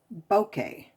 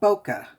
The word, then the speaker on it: bokeh: to say this again bokeh is the pronunciation or bokeh which is actually the way i've always said it okay this is